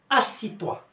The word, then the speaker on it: assieds-toi: je vais lui dire assis-toi assis-toi assis-toi. شوفوا الكتابة ديالو راه مختلفة، ولكن النطق ديالو كيكون غير اسي. assis-toi. لاحظوا مزيان، اسي زدنا هنا اي او دي اس، هادو كلهم بحال ما كيتقراوش. سي بون.